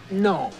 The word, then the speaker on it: gnome: you would know that the G in genome is silent it's no okay no it's gonna